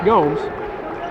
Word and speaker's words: Gomes: homes now with eight it's spelled just like Marcelo Gomez but it's Gomes just like they called Marcelo up in Kansas City 5 45 to play